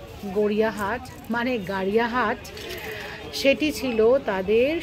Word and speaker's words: গড়িয়াহাট: তোমাকে দেখে কেনা বেচার এরকম দুর্ধর্ষ ছবি গড়িয়াহাটের চৈত্র সেলের বাজার ছাড়া আর কোথায় বা দেখতে পাওয়া যাবে বলুন তো। আর আমরা বাঙালিরা জানেন গড়িয়াহাট উচ্চারণটা না ভুল করি, দেখবেন অবাঙালিরা বলেন গাড়িয়াহাট, আসলে ওইটাই সঠিক উচ্চারণ।